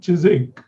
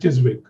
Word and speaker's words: Chiswick: we know english but even the way they pronounce things like uh there is an area called chizing but actually it's with a spelling which is with vic so i used to call it chiswick enough times before somebody corrected me so actually